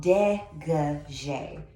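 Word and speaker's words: dégagé: a g-a-g-e once again ballet is done in french so we got to get that pronunciation and the spelling correctly your degree is typically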